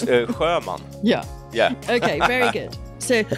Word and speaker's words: Sjöman: It's Sjöman. Yeah. Okay, very good. So, and you spell that, because none of you will know how to spell that.